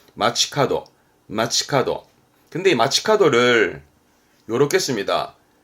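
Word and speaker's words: 街角: 오바 그러다가 뿔 각자인데요 모퉁이를 말하죠 여기서 길모퉁이 발음은 마치카도 마츠카도 근데 마츠카도를 요렇게 씁니다 번화가의가 길 가짜거든요요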